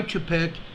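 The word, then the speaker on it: Weitchpec: there you see an earthquake this is why Chipette California it's it's spelled w-e-i-t-c-h-p-e-c California it's a 2.39 earthquake here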